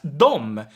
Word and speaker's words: de: pronouns d and them they are most typically pronounced both as dom and some people spell